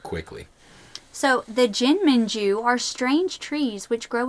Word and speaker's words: jinmenju: They're meant to be pronounced like quickly.